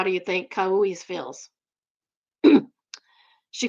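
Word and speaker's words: Kauʻi: My name is Kaui, Kau apostrophe I. In Hawaiian, each vowel is pronounced, none are silent. That is true. I knew that. However, native speakers tend to blend them together. For example, an AU would make a AU sound.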